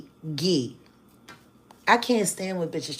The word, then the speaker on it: Ghislaine: Oh, by the way, Tisa, that's how you pronounce her name. Not Jiz Lane, even though it's kind of cute, you know, like Jizz, but no, it's Gee.